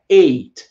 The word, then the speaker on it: ate: joelhos passado de ir ei é igual o número tá gente a pronúncia at Once não escreve igual mas pronuncia Ei passado de break é